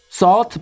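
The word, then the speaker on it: salt: 소금은 다들 하신 단어 서트 발음하실 때 입을 어 모양을 하시고 아 소리 내시면 됩니다 이렇게요 그럼 이제 실제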